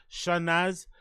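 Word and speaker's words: Chanaaz: it's c h a n a a z shanaz mangr who performed as channy Monroe says in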